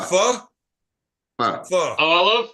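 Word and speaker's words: phở: Pho. Pho? Pho. Pho. Oh, I love pho. As in, Pho is fuck awesome. you. Is this Like that's how you saffron? pronounce it? Pho. Yeah, like fuck it.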